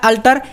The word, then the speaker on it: alter: यहाँ पर क्या है अल्टर, ALTER, यहाँ पर ए है यहाँ पर ई है, उच्चारण दोनों का सेम हो रहा, अल्टर, लेकिन अर्थ क्या है, एक का बेदी एक का बदलना।